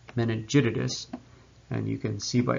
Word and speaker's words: meningitidis: we have neisseria meningitidis sounds like i stuttered i'm sure but actually if you pronounce its name fully it's meningitidis and you can see